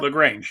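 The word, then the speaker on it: LaGrange: taking place in is it lrange in Georgia lrange you got it right right uh pronunciation first time there you go uh lrange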